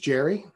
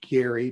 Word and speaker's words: Gerry: also there is um elbridge jerry actually it's elbridge gary to be precise you know elbridge gary